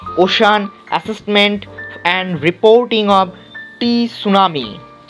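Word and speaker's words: tsunami: উত্তর হচ্ছে deep ocean assessment and reporting of সুনামি। টি উচ্চারণ করবে না, সবাই সুনামি বলবে।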